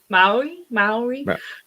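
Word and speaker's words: Māori: How do you pronounce it? Maori.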